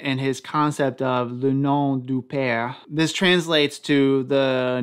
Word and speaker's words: nom du père: his concept of le nom du père. This translates to the name of the father, but since the M is silent, it also sounds like the no of the father.